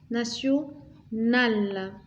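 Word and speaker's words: nationale: هذا تي نكتبوه تي بصح ننطقوه اس بالتالي نقولوا ناسيونال d'accord.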